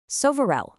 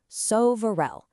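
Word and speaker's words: սովորել: All right, now for a verb that is especially relevant for us right now, sovarel, which means to study. Check out that pronunciation, sovarel.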